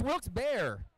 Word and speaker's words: Wilkes-Barre: You talking about Wilks Barre? Barre. It's Wilks Bear. Or Barry?